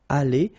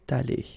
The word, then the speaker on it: allée: Okay, so elle serait allée, okay? But then phonetically it doesn't exist, all right? So it's aller here and then aller here, the way you pronounce it.